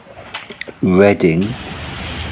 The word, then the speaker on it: Reading: that reads in English, Reading, that rhymes with wedding, and not the act of comprehending words through the eyes way.